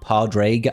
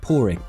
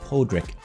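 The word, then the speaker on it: Pádraig: Being a Brit myself and seeing everybody calling him Grand Oak Pardraig, I get it, I understand it. You know, phonetically, that's probably how you would read it. It obviously stems from the Irish for the original Patrick, Porrick, Podrick. You know, there's a dozen different ways you can pronounce this. I have a colleague at work who's called Porrick, and that's how he introduces himself, and he is in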